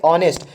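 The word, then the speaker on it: honest: तो ऑनेस्ट, हॉनेस्ट, इसको हॉनेस्ट नहीं पढ़ेंगे, हाँ उच्चारण नहीं देगा, बल्कि इसे हम पढ़ेंगे ऑनेस्ट, यानी ऑनेस्ट, अ से लिखा था ऑनेस्ट, तो हो गया ए ऑनेस्ट मैन, एन ऑनेस्ट मैन।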